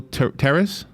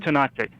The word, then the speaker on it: Tanache: So the protagonist is Daniel Terrace. Is that right? Tanache. Oh, Tanache. Okay.